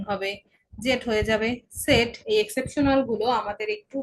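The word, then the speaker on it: Zett: আলাদাভাবে বলতে গেলে আমরা উপসিলন বলবো, কিন্তু কনজুগেট করে বলতে গেলে ওয়াই এর মতো উচ্চারণ হবে। জেড হয়ে যাবে সেট।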